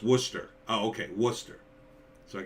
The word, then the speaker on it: Worcester: He lives in Worcester. Am I saying that right? I'm saying that wrong too. Worcester. like the sauce in the UK.